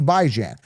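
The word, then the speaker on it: Bijan: By as in bi-weekly, Jan as in ran as in tan as in man as in fan. By bi-weekly. Jan as in tan. Well, that's how he pronounces it. Shut up. I don't care. That's how I pronounce it. I don't follow the herd. That's how I see it. When I look at that name, I see Baijan.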